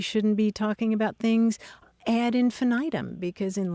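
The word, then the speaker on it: ad infinitum: be talking about things add infinitum because in Latin it would be odd infinitum and Maran the other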